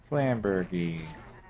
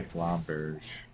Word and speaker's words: Flamberge: Flambergy. I actually don't know how to pronounce that. I say Flamberge, but I have no idea if that's accurate. Flamberge, like a Fabergé egg.